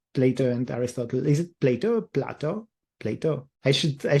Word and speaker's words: Plato: yeah but if it's platter in Greek then that's then that's right surely I mean there's no right or wrong right it's just how it's pronounced in Greek versus English but okay Plato yeah